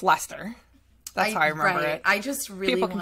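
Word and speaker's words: Leicester: old guy outside of a convenience store it's Lester I just really people can tell me around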